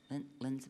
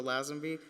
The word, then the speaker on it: Lazenby: Linsby, did I say it right? Good evening, board and Dr. Ross. My name is Lazenby.